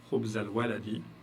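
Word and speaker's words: خبز الولد: Donc le alif ici, vous l'éliminez, vous faites la liaison et ça vous donne khubzal walad.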